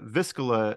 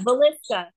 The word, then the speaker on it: Villisca: So you recently stayed the night at the Viscilla or Vis how you say it? Villisca. Yeah, Villisca Villisca. House. It's hard to pronounce.